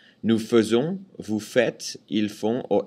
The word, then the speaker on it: faisons: Interesting thing too, nous faisons, this AI is pronounced E, nous faisons. AI is usually pronounced E, like in je fais, tu fais, il fait. But for nous, it's nous faisons.